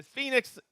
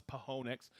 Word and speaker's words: Phoenix: california anderson island washington phoenix arizona i learned how to say it i always thought it was pohonics all right marin french